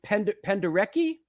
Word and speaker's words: Penderecki: as Edgard Varese, who Stockhausen, and am I pronouncing this right? Penderecki?